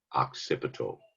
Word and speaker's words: occipital: Is pronounced occipital.